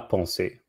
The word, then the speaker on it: pensée: just say thought la ponce so you pronounce it the same except there's not an s at the end but the s of